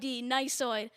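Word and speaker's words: gneissoid: actually got it so the silent g to start the word i mean and then not only that there's an e-i and then there's a double s yeah i'm done i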